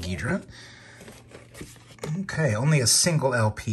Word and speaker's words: Ghidorah: all right movie five guidra the three-headed monster another of my favorites or ghidorah if uh if you prefer i've heard it pronounced both ways i've always said guidra okay only a single